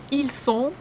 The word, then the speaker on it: ils sont: Ils sont, ils sont, T is not pronounced.